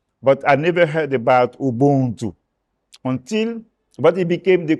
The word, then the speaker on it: Ubuntu: Tell us what your understanding of Ubuntu, actually that's how it's pronounced, Ubuntu.